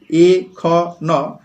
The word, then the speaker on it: এখন: কিন্তু এ উচ্চারণ এমন এখন আমরা লিখি এ খ ন কিন্তু বলি এখন অর্থাৎ এ ধ্বনি কিন্তু